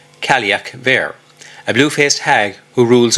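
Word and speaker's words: Cailleach Bheur: She also appears in Scottish folklore as the Ka um Buer, often pronounced as Kalak Ver, a blue-faced hag who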